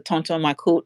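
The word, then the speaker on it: Tonton Macoute: he had his own secret police called the Tonto my and it's spelled t o n t o n m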